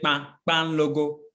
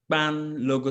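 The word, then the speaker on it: kpanlogo: Yes, so you pronounce the K and the P together with the A.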